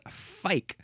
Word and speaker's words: fyke: Well, it looks like their word is pronounced fuik, spelled F-U-I-K. But at least the American English way is fyke. So maybe that's how they pronounce it as well.